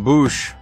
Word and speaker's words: Boushh: accessories Princess Leia Organa bush archive or bush I always called it Bush even though the way it's spelled is probably bush anyway s uh some